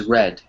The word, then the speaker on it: read: participle of read is red even though it's spelled the same way the pronunciation is different so she has red